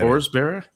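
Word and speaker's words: Forsberg: Did you not see the Swedish pronunciation in the on those guys and apparently everyone's been saying Philip Forsber's name wrong. It's Forsber. Forsber.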